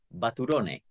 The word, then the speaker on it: Baturone: Fíjense, él ya estado con nosotros alguna otra vez, pero necesitamos que, ¿cómo se pronuncia tu apellido? Baturone, tal cual.